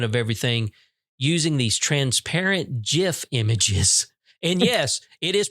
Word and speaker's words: GIF: It's pronounced GIF, just like in peanut butter.